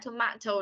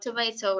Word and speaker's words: tomato: chứ tiếng Brazil rồi Ok mình có thể là đọc là Tomato hoặc Tomato đều được nha Tomato là người anh sẽ đọc còn Tomato là người Mỹ đọc như vậy ok next One B